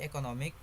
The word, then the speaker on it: economic: Economic. Base word economy. Derived word economic. Suffix ic. The stress moves from the second syllable to the syllable before ic, illustrating stress shift caused by derivation.